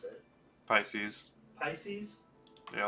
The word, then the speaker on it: Pisces: Pixies.